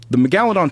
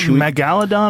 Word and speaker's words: megalodon: Is it megalodon or megalodon? How do you say it? It depends. Your emphasis can be on a different syllable.